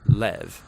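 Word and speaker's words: לב: in this prayer part which in Hebrew is sometimes pronounced Lev or more often in a shorter form Lev now different cultures throughout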